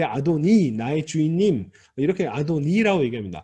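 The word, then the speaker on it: אֲדֹנִי: 이게 사실 시편에 나오는 구절을 가지고 이야기하는 거였는데 거기도 사실은 히브리어식 발음은 아도나이가 아니라 아도니입니다. 아도니.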